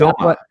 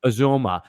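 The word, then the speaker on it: Uzomah: He's I think really it's Uzoma is how you pronounce his name. Uzoma.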